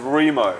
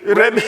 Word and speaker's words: Remo: And I'll be like, well, I'll say my name's Remo. Yeah, Remo. R-E-M-O. Yeah. They'll call out my order when I go order a pizza. Remy. I'm like, how did you not hear that?